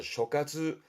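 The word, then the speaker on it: 所轄: 앞에가 소자, 소할 발음은 그래서 쇼카츠, 쇼카츠라는 것도 다스리는 장소를 말하는 거니까 앞에 있던 칸카츠와 같은 뜻입니다.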